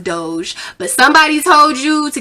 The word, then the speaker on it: Doge: just know somebody told you to invest in dog coin although it's pronounced doge but somebody told you to get in dog